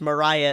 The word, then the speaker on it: Maria: it the other night and then they said Mariah, and I was like, "Oh, okay. Note to self, don't pronounce it Maria."